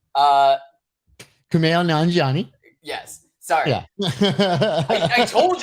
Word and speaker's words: Kumail Nanjiani: Kamala Nanjiani. Kumail Nanjiani. Yes. Sorry. Yeah. I told you in advance that I was gonna mispronounce his name over and over again.